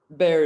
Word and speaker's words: Bexar: Bear is spelled Bexar.